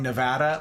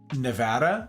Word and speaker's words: Nevada: I've decided that until America gets on board with calling Nevada my state, Nevada, aka pronouncing it correctly, I'm just gonna mispronounce everybody else's state, so everybody can see how it feels.